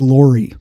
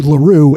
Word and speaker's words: Larue: mispronounced william l weller's middle name incorrectly i pronounced it laurie l-a-u-r-i-e and it's actually larue l-a-r-u-e so i have a little bit of